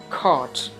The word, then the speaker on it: cart: It is pronounced as cart. Cart. So you have to stretch the vowel and you don't have to pronounce the R.